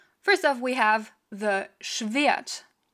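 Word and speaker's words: Schwert: off we have the schvyat which has a w in it that is pronounced because otherwise it wouldn't have a w in it english viet then we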